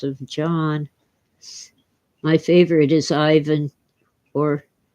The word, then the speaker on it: Ivan: My favorite is Ivan, or correctly pronounced Ivan.